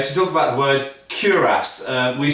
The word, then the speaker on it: cuirass: Originally in French, and it comes from French of course, it would be probably, and I always get criticised by the French viewers for my pronunciation, but it should be pronounced cuirass, I believe.